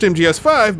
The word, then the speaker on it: MGSV: It's pronounced MGS5, but he wrote MGSV, and so entire leagues